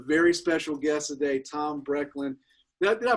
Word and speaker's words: Brechtlein: special guest today, Tom Brechtlein. Did I pronounce that? Did I get the last name right? Is it Brechtlein? It's Line. Brechtlein. Yeah, in German, it's EI. EI is I, and IE is E.